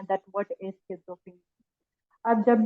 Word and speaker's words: schizophrenia: ठीक है, इवन हम इसको प्रोनाउंस भी रॉन्ग कर रहे होते हैं, शिजोफ्रीनिया एंड all that. Basically it is pronounced as स्किज़ोफ्रेनिया।